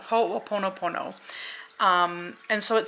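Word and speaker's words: Hoʻoponopono: believe it's Hawai and it's called hopo poono no no no hold on I'll look it up for you I never knew how to pronounce this but oh bear with me okay so this is it it's a whole oono Pono ho oono Pono um and so it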